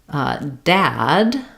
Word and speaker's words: dad: And when we're looking at the word dad, we're looking at the ah vowel, like in black.